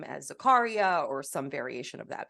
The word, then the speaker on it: Zakaria: is pronounced Zacharia and very often people mispronounce my last name as Zakaria or some variation of that because it has